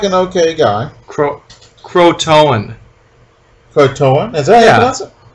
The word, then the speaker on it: Croatoan: So, which is as confusing as Croatan. Mm-hmm. So they get they choose this leader. He seems like an okay guy. Croatoan.